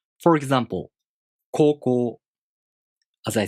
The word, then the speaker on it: 高校: For example, 高校. As I said, the O long vowel is represented by U. 高校.